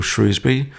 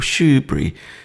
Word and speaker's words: Shrewsbury: Steele visited, I think, Shrewsbury, the county town, or Shrewsbury, or Shoebury, depending on how you want to pronounce it.